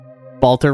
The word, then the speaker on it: Balter: for the environmental storytelling Balter rhymes with Walter you're not wrong